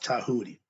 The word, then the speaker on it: Djehuty: So let's talk about Tahuti. It's spelled Djehuty. The D is silent, the T sound.